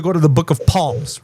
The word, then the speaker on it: Psalms: Well, it's not the book of Psalms, it's the book of Psalms with an S. Just because there's a P after the S doesn't mean that that's how you say it.